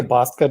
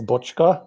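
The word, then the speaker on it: Bocska: pronounce it so i i just say bosca to try to make it easy but then people spell it the hungarian pronunciation is butchka but no and i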